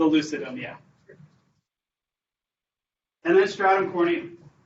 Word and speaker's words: corneum: yeah and then stratum corneum corny rhymes with horny it's known as the